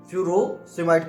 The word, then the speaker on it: Furosemide: person इसको फस might कहते हैं कुछ इसको फ्यूरो समाइट कहते हैं एफ यू आर ओ एस ई